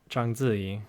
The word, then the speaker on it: Zhang Ziyi: And man, I just remember when the actress in those two movies, Zhang Ziyi, or Zhang Ziyi would be the proper pronunciation.